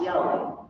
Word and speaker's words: Yahweh: But as represented here by these four characters, this is pronounced Yahweh by the Hebrew-speaking people.